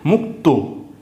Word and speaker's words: মুক্ত: মসু কত মুক্ত হ্যা মুক্ত কিরকম উচ্চারণ হবে মসু ক মুখ হ্যা হ্যা তওকার ত উচ্চারণ হবে মুক্ত ঠিক আছে এবার এটা